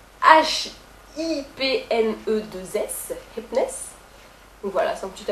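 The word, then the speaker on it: Hipness: Pour ceux qui ne comprennent pas ma prononciation, ça s'écrit H-I-P-N-E-2-S, Hypness.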